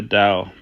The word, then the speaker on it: Tao: They emphasize that ineffable nature of the Tao, pronounced Dow, often translated as the way or the path.